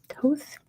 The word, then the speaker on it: Thoth: Thoth.